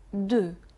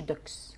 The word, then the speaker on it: deux: رقم 2، بس 2 في الاخر الاكس مش بتنطق. هنعيد تاني، رقم 2 دو، والاكس مش هتنطق زي ما قلنا يا مروه. ما يبقى ما نقولش دوكس، بنقول دو.